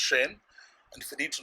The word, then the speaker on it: Zhayynn: It's spelled Zhayynn, but it's pronounced Shane.